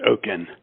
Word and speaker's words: Okin: Okin, am I pronouncing your name right? Yes, it's Okin.